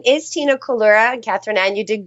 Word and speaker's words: Collura: me so hello everyone my name is Tina colura and Katherine an you did great on the pronunciation um I I am um a productivity